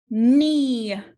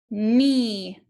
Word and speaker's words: knee: digraph k n again the k is silent and digraph e e the first d is making the sound the second e is silent knee knee and lastly ghost letter